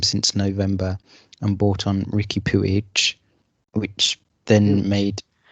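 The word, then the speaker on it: Riqui Puig: pewige which then made yes that's the pronunciation of it yeah i mean i've been doing it wrong this whole time yes it's ricky pewige exactly sounds like a much cooler player so that left them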